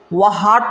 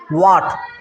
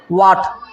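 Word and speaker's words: what: तो इसको वह हाट नहीं पढ़ते, इसको क्या पढ़ते हैं? वाट। क्या पढ़ना है? वाट। मतलब ये जो है एच का उच्चारण नहीं होता जब इसको हम पढ़ेंगे तो, ठीक है।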